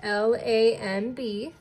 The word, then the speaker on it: lamb: If you guessed L-A-M-B, you are absolutely correct. Remember, as strange as it looks, sometimes M-B just makes the M sound, like in lamb.